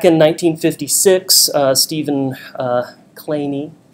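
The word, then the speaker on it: Kleene: 1956 uh Stephen uh clany that's how he likes to pronounce his name uh came up with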